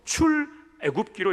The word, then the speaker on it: 출애굽기: 여러분, 출애굽기를 읽을 때는 출애굽기라고 읽으면 안 됩니다. 그러면 구워 먹는 것으로 오해할 수 있고 출애굽기로 읽어야 됩니다.